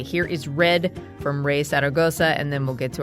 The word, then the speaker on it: Zaragoza: I'm learning Spanish, so I feel like a little shy about my pronunciation. It's fine. It's Zaragoza. Zaragoza.